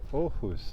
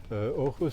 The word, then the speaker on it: Aarhus: Aarhus, they pronounce it.